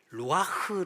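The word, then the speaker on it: רוח: 단어가 나오는데이 생기이 생기는이 히브리어로 좀 발음을 잘해야 되는데 루아흐 단어입니다이 루아흐 창세기 1장에서도 나옵니다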